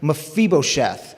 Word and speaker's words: Mephibosheth: guy named mafibo sheth i want you to say his name with me because it's kind of a hard one mafibosheth yes see that that uh hiv ph it's like like it is in phone it makes the f